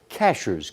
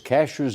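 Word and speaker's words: Cashiers: May be spelled this way, but it's pronounced Cashers. Cashers, North Carolina.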